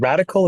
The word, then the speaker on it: Radicle: And radical is spelled like particle, RADICLE. Phonetically, it sounds radical because that's what we're here to do.